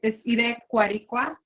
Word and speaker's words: IREKUARHIKUA: And also the name of your company, IREKUARHIKUA. I hope I'm saying it right. It's beautiful. So it's IREKUARHIKUA, and it's a word, a Purepecha word, which is the indigenous language of Michoacán.